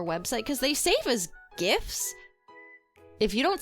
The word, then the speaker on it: GIF: cuz they save as gifts. If you don't say GIF as GIF, don't at me. That's how I say it. Um it's the word gift minus the T.